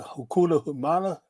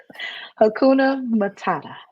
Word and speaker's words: Hakuna Matata: So how do you pronounce that? Hakuna Humana? Hakuna Matata.